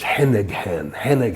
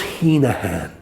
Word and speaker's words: Heneghan: But this lawyer kept saying Justice Heneghan, like mispronouncing an Irish name. And this goes on and on and on and on and on. And finally the judge says, stop. It's Heenahan.